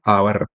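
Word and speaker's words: hour: जैसे कि ये आवर है, इसको हम एच को साइलेंट कर देते हैं। आवर मतलब घंटा, तो इस एच को साइलेंट करके पढ़ते हैं, इसको पढ़ते हैं आवर।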